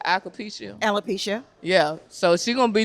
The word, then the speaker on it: alopecia: However, with my ambassadors, I know with Tracy about to do the ball system, like embracing the what's the pronunciation? Alopecia.